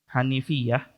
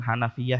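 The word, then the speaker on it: حنيفية: Muhammad bin millata Ibrahim bahwa hanifiah bukan Hanafiah ya Hanafiah ya menjadi alam untuk mazhab nama buat mazhab kepada nan bin tabit eh al-hanafi Imam Abu Abu Hanifah jadi jangan bacanya annal Hanafiah masa Nabi Ibrahim mazhabnya Hanafi gitu salah tersalah lagi mahaminya jadi hanifi ya dari Hanif ya itu adalah Ibrahim Apa yang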